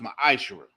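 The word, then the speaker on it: מעשר: in Malachi 3 8-10 means 10th in the Hebrew and it's pronounced my eyeshower it's a tenth of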